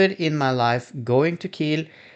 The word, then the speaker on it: Kiel: I have been on a trip to Kiel with Colorline Magic this time because I went on the big yearly meeting for an organization I'm in the board of.